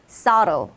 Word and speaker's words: subtle: 자, 가운데 있는 거 한번 먼저 보시면 생긴 건 되게 subtle처럼 생겼죠? 그런데 발음은 저 듣고 따라 한번 해보세요. subtle. 따라 하셨나요? 오케이. 자, 그래서 미묘한이라는 뜻을 가진 저 단어는 발음이 subtle이다. 그 다음 아래쪽으로 내려갈까요?